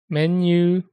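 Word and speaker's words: メニュー: Menu. That's how they pronounce it in Japanese. Prolonged U.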